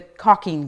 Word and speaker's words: caulking: i think with the caulking gun um so the l is kind of silent so it a caulking or gun is spelled c-a-u-l-k but it's not really pronounced that way so i always have